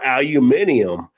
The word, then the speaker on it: aluminium: Big one for me as an Aussie listening to American is aluminum or aluminium.